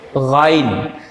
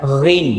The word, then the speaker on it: ghain: Oke, selanjutnya yang ke-19 itu ada huruf ghain. Ada orang yang bacanya ghin ya, ghin ini ghain, ini ghain, yang dia